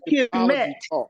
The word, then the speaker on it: Kemet: See the way we pronounce it. Hold up. How does Kemet, KMT, mean Black?